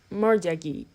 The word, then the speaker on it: mortgagee: mortgage loan transaction it is pronounced more Jaggi the murderer the murder